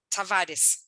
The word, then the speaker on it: Tavares: James meet patio Tavares am I mispronouncing your name Tavaris oh that's really good it's okay it doesn't matter that's a great pronunciation so I I thought